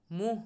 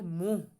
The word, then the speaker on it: मुंह: তারপরে तुमने मेरे सामने मुंह खोलने की जुर्अत कैसे की, तुमने मेरे सामने মুহ হবে মুন, এখানে দেখেন উচ্চারণটা একটু খেয়াল করি, এটা হবে মুহ, মুহ মানে হলো মুখ, মুখ কি হবে?